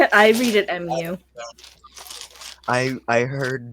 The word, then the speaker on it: mu: I heard Moo and thought How I do care. MOO. Yeah, so did I. So I think that it's supposed to be mu, like the Greek letter is pronounced mu.